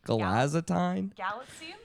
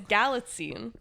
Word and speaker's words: Galitzine: Everyone's buzzing about Centineo and How do you say his last name? Galazatine? Galatzine? You spelled it wrong. No, I did not. There's no way I spelled it wrong. You did. It's Galatzine. Galatzine?